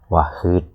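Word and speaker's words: واحد: Ha titik bawah ini. Jadi bukan ha, bukan ha nafas atas tapi nafas bawah. Wahid.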